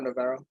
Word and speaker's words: Navarro: Am I pronouncing that correct? Navarro or Navarro?